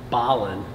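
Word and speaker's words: Belen: Oh, and by the way, it's Ballin, not Bellin, New Mexico.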